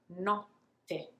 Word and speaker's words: notte: Note, notte. You see it, you hear it actually, how I'm lingering and pausing and taking my time before pronouncing the double T.